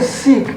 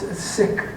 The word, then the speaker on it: Sikh: and six as well I don't say Sikh because that's a mispronunciation that the corporate media keeps using over and over again so you know it's since you have a large community here you know it's sick yeah like the way